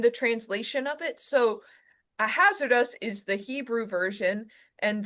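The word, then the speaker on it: Ahasuerus: So the pronunciation that comes to us through the Hebrew is a hazardous almost like you're saying it's hazardous.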